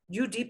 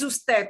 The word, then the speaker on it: usted: UD period, that does not mean you pronounce it ud. Nobody says that. It is usted, but it's an abbreviation.